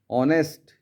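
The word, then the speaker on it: honest: हैं अन कहते नेस्ट एच ओ एनई एसटी इसका प्रोनाउंस होता है ऑनेस्ट यहां पर भी एच साइलेंट रहता है हम कहते हैं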